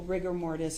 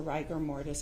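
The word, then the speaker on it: rigor mortis: you started to see I thought you said rigger but isn't it ryer ryer mortis uh there's debate on the pronunciation okay so riger mortise or rer Morse however you want to pronounce it you took a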